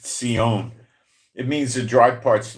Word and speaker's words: Zion: Zion is pronounced seion.